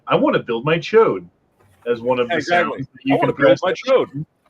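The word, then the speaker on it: Ch'od: try to say well that's not how you pronounce his name no it is his name is chode I don't give a what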